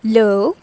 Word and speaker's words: le: for masculine we use l e which is pronounced as low and for feminine kind